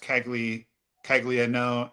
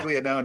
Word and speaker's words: Caglianone: It's spelled Caglianone, but it's pronounced Caglianone. No, Caglianone, but it's Yeah. Caglianone is how you say it.